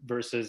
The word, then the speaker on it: VERSVS: a couple times, but yeah, it's just pronounced as versus. It's just spelled different.